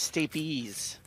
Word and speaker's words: stapes: pedantic stapes his best stapes actually is pronounced steep ease Kolka mitch is on